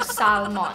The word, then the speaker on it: salmon: Wag daw salmon or salmon. It should be salmon.